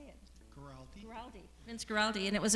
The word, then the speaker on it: Guaraldi: Guaraldi.